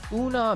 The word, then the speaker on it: una mancia: A tip (or una mancia, pronunciation oo-Nah MAN-chat) is seen as a